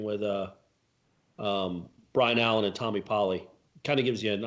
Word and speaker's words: Polley: Well, if people listening to this, Corey, right now, they're hearing his name pronounced as Tommy Pulley, which that was Musburger's thing. You always called him Pulley, and there's no cue.